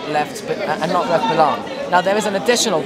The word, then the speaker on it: Balaam: Bilam, or in English, Balaam. I don't know how they pronounce it in English. I've always been taught it as Bilam.